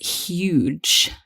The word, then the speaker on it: huge: huge statue exactly huge the thing to watch out for here is that we must pronounce that h so huge not huge